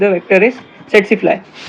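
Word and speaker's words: tsetse: इज the vector is सेट स फ्लाई इट इज नॉट t silent रहता है इसका इसका वेक्टर क्या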